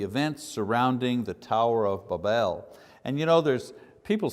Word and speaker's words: Babel: There's a million ways to say it, but I've looked at the phonetics of it, and the phonetics say the pronunciation should be B-A-W-B-E-L, so Babel.